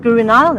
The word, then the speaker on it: Guru Nile: Guru Nile, am I saying it right?